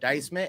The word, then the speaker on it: Dycez-Man: So, for the sheriff, for the executive consultant, I am the almighty Dycez-Man, a.k.a. the Z is silent.